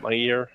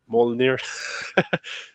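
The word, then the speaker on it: Mjölnir: Mjolnir, Mjolnir.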